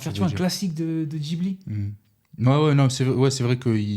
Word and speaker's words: Ghibli: Ghibli, pardon. Et là, je sais que ça se prononce Ghibli, comme c'est écrit Ghibli, mais quand c'est arrivé, je crois qu'on posait tous.